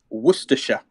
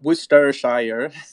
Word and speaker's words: Worcestershire: in a Bloody Mary its Worcestershire not Worcestershire Worcestershire thank you enjoy